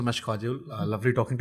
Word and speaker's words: काजोल: मेरे नाम को वो शुभंकर करते हैं, तो मुझे कई बार काजल को कहीं काजोल तो नहीं कर दिया. नहीं वैसे ही है. Actually it is काजल which is pronounced as काजोल, but I like the pronunciation of काजोल.